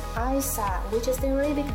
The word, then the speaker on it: Eissa: Religion was very important to the couple, and they named their baby son Eissa, pronounced Eissa, which is the Arabic name for Jesus.